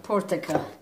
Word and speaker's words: portakal: Portakal. Portakal. Dolma portakal. Vallahi aferin. Dolma portakal. Dolmanın bile nasıl yapıldığını öğrendin. Tebrik ediyorum. Tebrik. Portakal, please say. Portakal. Portakal. Portakal. Orada kal. Portakal.